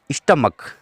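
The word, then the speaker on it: stomach: जैसे स्टमक, अब आप देखेंगे एस टी ओ एम ए सी एच, अब ये इसका उच्चारण क होता है स्टमक, तो स्टमक है तो फिर खाली एस ही लगेगा, ई एस नहीं लगेगा।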